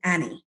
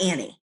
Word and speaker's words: Annie: one day so i was named annie not annie even though everybody says annie except for some really down-home philadelphia people so it said ah like apple so when you say attitude and you say my name the way i was named anitude it sounds just like attitude so one day i